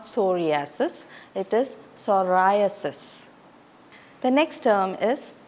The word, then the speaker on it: psoriasis: specialist autoist autoist oenologist common condition that is mispronounced is sasis it's not sasis it is psoriasis the next term is p it's not Pik